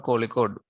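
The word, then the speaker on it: Kozhikode: code the name uh it is called Calicut because when the British uh came to India they were unable to pronounce the word code so they slightly modified it into the form of Calicut and it it also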